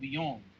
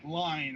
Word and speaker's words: Lyon: of the city called Lyon and not like lying or anything like that but French pronunciation and like one of